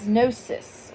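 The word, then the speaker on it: gnosis: And by that understanding, universal laws particularly through principles like as above so below, its goal is nosis, which is spelled G N O I S.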